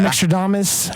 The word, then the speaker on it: Mickstradamus: At Mickstradamus, as sounds spelled how it sounds.